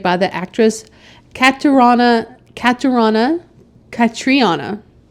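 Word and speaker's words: Catriona: the actress Catana Catana katriana I'm not sure how it's c a t r i o n a but it's also spelled with a K in the movie credits I noticed today U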